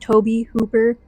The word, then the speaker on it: Tobe Hooper: I was younger and first saw Toby Hooper's name I thought it was to and I mean it's just the way that it's spelled and everything but not realizing that it was pronounced Toby Hooper which makes way more sense but so he is